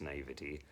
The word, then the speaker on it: naivety: look gives her this, I want to say naivete, but I've been told it's pronounced naivety. Naivety? That just seems wrong to me.